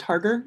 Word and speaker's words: Harger: It's pronounced Harger and present.